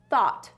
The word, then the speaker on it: thought: how about this word this word is thought look at all those letters that has to be like three or four syllables right let's let's try it ready thought oh i only heard one thought even though it has all of these letters it only has one syllable so don't let the